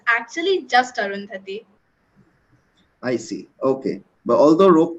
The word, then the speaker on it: Arundhati: people call you by I think the pronunciation is the same it's arundhati but so they call